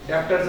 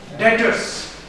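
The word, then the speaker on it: debtors: डेप्टर्स डी बी यू आर एस डेप्टर्स D silent होता है बीच में डेप्टर्स नहीं पढ़ना मेरे को नाक कटवा दोगे मेरी बात डेटर्स ठीक है रिसीवबल्स या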